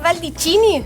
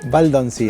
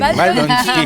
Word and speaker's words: Baldoncini: Baldicini, ¿lo pronuncié bien? Baldoncini. Baldoncini. Ahí está, casi.